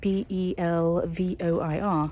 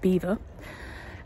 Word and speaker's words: Belvoir: its name is spelled b-e-l-v-o-i-r so it should be Belvoir Castle but in Good Old English fashion nothing is pronounced as it's spelled so it's actually pronounced beaver now the castle dates